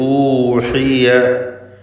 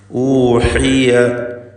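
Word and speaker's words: أُوحِيَ: ഊഹിയ ഊഹിയ എന്ന് ക്ലിയറായി ഹായ് ഉച്ചരിക്കണം.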